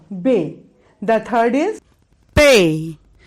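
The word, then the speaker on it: پے: The third is Pay, P, A, Y, Pay. The fourth letter is Te, Te. Here you pronunciate the word Te, the letter Te, by the soft sound of T.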